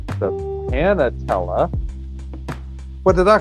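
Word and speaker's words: panatela: Panatella. What? Patella. Panatella. There's an N. I negated the N. The NA is silent in the middle.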